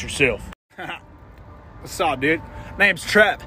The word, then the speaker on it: Threv: Name's Trev. T-H-R-E-V. T-H-R-E-V? Threv? Nah, bro. The H is silent.